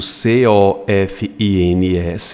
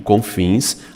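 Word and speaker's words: COFINS: correto comins eu pronuncio como acrônimo eu não digo c o f i n eu digo com fins acrônimo primeira maiúscula e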